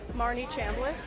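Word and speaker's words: Marnie Chambles: Marne Chamblas. And then, how do I spell it?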